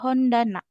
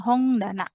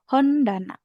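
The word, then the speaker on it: 本棚: Jadi dibacanya biasa hondana bukan hongana tapi hondana.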